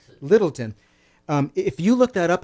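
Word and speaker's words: Lyttelton: by a guy named Humphrey Littleton, and Littleton is spelled L-Y, not I. Littleton.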